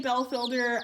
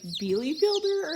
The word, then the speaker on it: Bielefelder: But with the, we say Belfielder, I know it's pronounced like Bielefelder or something like that.